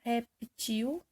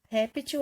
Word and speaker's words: réptil: Da mesma forma, na palavra reptil, quando a sílaba mais forte for a última, ele será oxítona, o plural será reptis. E quando for réptil, ele será paroxítona, a terminação dele será eis.